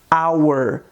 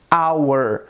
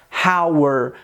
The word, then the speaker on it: hour: a gente não pronuncia rauer como se estivesse utilizando o som do r então o som do h em inglês ele tem esse som mudo e aí você pronuncia